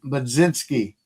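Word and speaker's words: Mlodzinski: with um let me get the correct correct pronunciation, uh Madzinski.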